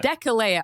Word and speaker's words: Deceleia: Deceleia. Oh, I got so close. He recommended they fortify Deceleia in Attica, which is a sort of crucial move that devastates the Athenian countryside.